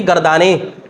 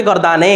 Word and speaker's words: গর্দানে: থেকে কিসের রূপান্তর আচ্ছা এটা উচ্চারণ কিরকম গর্দানি নাকি গর্দানে গর্দানে বলেন না গর্দানে গর্দানে গর্দানে আলোচনা এটা ইয়াটা কি ইয়া মাজহুল যেমন আওরাতের জমা আওরাতে আওরাতে আওরাতি নয় ঠিক আছে এটা কি পড়বেন গর্দানে নে গর্দানি পড়া মানে ভুল এটা গর্দানে উচ্চারণ আচ্ছা এরপর দেখেন এই